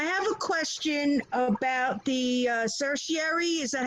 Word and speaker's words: certiorari: you okay I have a question about the certiorari is that how you say it yes on